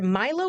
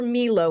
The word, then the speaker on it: Milo: But now the Olympic mascots, we got Tina and either Milo or Milo. We don't know if it's the Milo English pronunciation or Milo, like they would say in Italy.